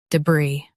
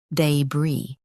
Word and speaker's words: debris: day bree day bree Now, read the syllables of British pronunciation shown on the screen naturally. day bree day bree US uses duh UK uses day same bree Practice repeatedly and you'll